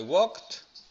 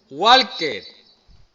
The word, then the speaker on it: walked: Por ejemplo, I walked. Atención a la pronunciación. I walked. La ed no se pronuncia. Walker. Hay gente que aprueba y dice walker.